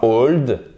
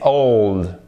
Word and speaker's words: old: Déjà, c'est pas old, c'est pas hold, c'est old. Faut bien faire ces diphtongues que vous retrouvez dans hello, old, et c'est pas camera.